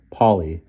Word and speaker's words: Polly: Polly tends to be pronounced as so it rhymes with pole.